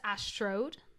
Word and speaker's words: ASTROROAD: So their tour was called First ASTROROAD, I believe is how you say it. So it's like Astro Road.